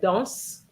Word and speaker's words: dans: Okay, so the first word, very often some students said danse. And obviously, if you pronounce the S, for example, of dans, you're saying something totally different, okay?